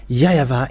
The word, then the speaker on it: YAHVAH: So here it is really seen, the W is really V, but it's the Western who changed it into Wu.